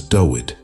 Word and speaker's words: David: Notably, in Phoenician writing, the name David is pronounced as Dawid.